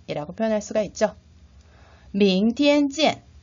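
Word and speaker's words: 明天见: 明天见 발음이 익숙하지 않아서 잘 암기가 안 된다면 명태쯤을 생각해 주세요.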